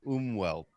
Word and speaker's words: Umwelt: a word that spelled u-m-w-e-l-t and it's it's pronounced um wealth but it's basically the experience that you have